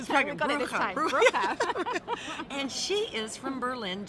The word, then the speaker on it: Bruecher: Bruecher.